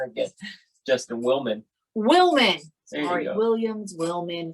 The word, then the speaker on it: Willman: Justin Williams.